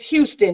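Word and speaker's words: Huston: angelica houston or husky it's houston it just spelled like it looks like it was a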